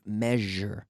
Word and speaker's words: measure: The SU sound, measure, okay?